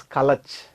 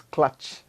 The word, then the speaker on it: clutch: language some of them pronounce the word clutch as kalacha it is not color it is clutch similarly the other sounds